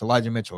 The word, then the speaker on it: Elijah Mitchell: And Elijah Mitchell, I always get his name wrong. It's Elijah Mitchell, right?